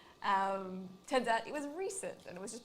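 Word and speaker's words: Rhysand: There's a character in it called Recent, but it's spelt Recent with like an R-H-Y. So it's R-H-Y-S-A-N-D. And so I think the whole time I read like the first 3 books, I thought it was pronounced Rysand. And in my head that sounded fine. And then I compared it with other people. It was wrong.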